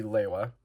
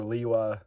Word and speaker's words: Lewa: Next we see Lewa, or Liwa, Lua. There's a lot of ways you'll pronounce his name.